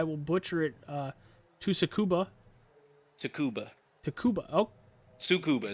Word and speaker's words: Tsukuba: Tsukuba, Takuba. Oh, Sukuba. No, don't pronounce the T. Sukuba.